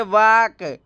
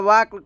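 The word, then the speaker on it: walk: डब्लू ए एल के वाक दोस्तों डब्लू एल के में एल साइलेंट होता है वाक बोला जाता है वाक वाक का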